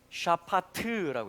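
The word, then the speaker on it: שָׁפַט: 뭐라고 읽냐면 샤파트라고 읽습니다.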